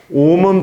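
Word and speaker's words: ओम्: 이렇게 높게 끝나는 소리입니다 다시 말씀을 드려서 옴은 발음할 때 옴 이렇게 높게 끝나야 된다는 얘기입니다 어떤 분들은 이렇게 발음하시는 분들이 있는데 이게 잘못된 발음에 해당이 됩니다 나중에 옴에 대해서는 자세하게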